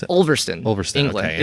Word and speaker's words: Ulverston: So you said Ulverston, is that how you pronounce it? Ulverston, England.